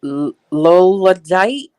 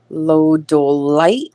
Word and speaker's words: lodolite: Susie's saying Lolodite. I'm There you not. go. I don't know how to say it. Lodolite. Lodolite. Load of light. Yeah. Lodolite. Lodolite. Oh, it's a tongue roller.